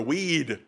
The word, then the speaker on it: Wade: goes forward or not it's wade or as they pronounce it minnesota weed okay jerry says it's